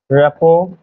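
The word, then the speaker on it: rapport: আসলে রেপোর্ট হবে না শেষে টি টার উচ্চারণে নাই রেপোর্ট রেপোর্ট আরেকটা উচ্চারণ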